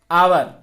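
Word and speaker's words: hour: दूसरा देख लीजिए, दूसरा उदाहरण जैसे है आवर। ये क्या है? अरे इसको हावर तो पढ़ेंगे नहीं, इसको पढ़ेंगे आवर। क्या पढ़ते हैं? शुद्ध उच्चारण क्या है? आवर।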